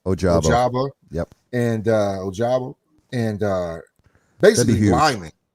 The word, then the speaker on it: Ojabo: Ojabo.